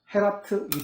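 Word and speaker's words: Geert: 공동 운명 형제단을 창설한 헤라트, G로 되어 있잖아요. 네덜란드는 H 발음.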